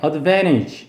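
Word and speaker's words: advantage: 이거 6 사람이 말하면 강세가 이음 들어있고 n 다음에 t 발음이 잘 생각되기 때문에 어드벤 이렇게 발음합니다 어드벤 엣지 아도 되니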